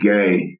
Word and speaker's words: Gueye: And then they've got a 4-man, Gay. It's spelled Gueye, but it's pronounced Gay.